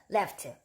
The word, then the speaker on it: laughed: 이런 단어들 뒤에 오는, 이런 발음들 뒤에 오는 ed는 트 발음이 나요.